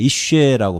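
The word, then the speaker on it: אשה: 그 전에 히브리어는 이슈에라고 발음해요. 이슈에, 이 화제라고 번역한 것을 70여 있네.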